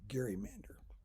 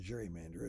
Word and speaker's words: gerrymander: on the chapter quiz the correct answer was gerrymander sometimes mispronounced gerrymander it's when legislators draw